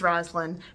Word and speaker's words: Roslin: introduce myself as Roslin because if you just say Ros people don't hear it because it's one syllable and the S isn't